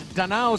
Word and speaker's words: Danao: name of our teams it's danao city not and here is formento